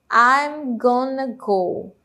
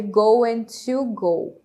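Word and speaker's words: gonna: G que se transforma em G né na pronúncia GNA go G go né não fica ali eu going to go going to go e sim GNA go Ok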